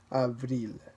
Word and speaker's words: avril: A letter C, R, F, or L at the end of the word usually is pronounced.